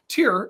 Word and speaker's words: Tier: Tier is the German word for animal or mammal, because I know that sloths are Faultiers, which means lazy beast. But however, in German, it's pronounced Tier, like Faultier.